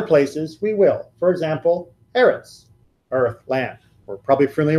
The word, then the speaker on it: eretz: For example, eretz, earth, land. We're probably familiar with that. And sometimes when the accent goes onto that first syllable, it's going to be aretz.